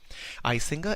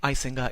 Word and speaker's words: Icinga: its rate of commits the name icinga is Zulu word meaning it looks for it browsed or it examines as it pronounced with a click consonant the initial release of